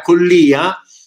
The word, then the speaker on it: Collia: Io a questo punto la mollerei qua con questa nuova cosa che mi è stata donata da Andrea Collia, con l'accento sulla C, che insieme a Roberto